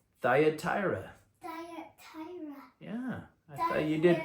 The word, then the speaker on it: Thyatira: Yeah, that's pretty good pronunciation. Thyatira. Thyatira.